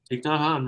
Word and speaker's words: Thich Nhat Hanh: So, your guy who I never say his name right, Thich Nhat Hanh, Thich Nhat Hanh, right on.